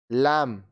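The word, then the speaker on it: lamb: B silent. अब ये सारे जो वर्ड्स है इसमें बी साइलेंट होगा। कॉम, कॉम, कंघा, कॉम, कंघा, लैम, मेमना, लैम, मेमना, थम, अंगूठा, थम, अंगूठा।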